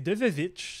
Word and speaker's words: Devevich: l'époque où est-ce que le W c'était 2V, fait qu'ils sont fourrés d'époque. Fait que c'est Devevich, c'est comme ça que t'es supposé de le prononcer.